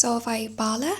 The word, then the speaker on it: Solvej Balle: Okay, so just going off the video I watched I think it's pronounced Solvay Balle, but I've been seeing